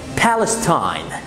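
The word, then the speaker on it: Palestine: ايوه هي دي، بالستاين، بالستاين اللي هي فلسطين.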